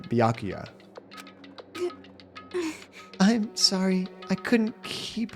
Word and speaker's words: Byakuya: Ah, Bakula. It's Byakuya. Thank you for pronouncing it Byakuya.